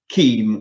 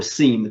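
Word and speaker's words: CIEM: Cloud infrastructure entitlement management also known with acronym Keem or Sim depending you know uh the way you want to pronounce I prefer key because Sim is more something that people think that is the security information event management so I use keep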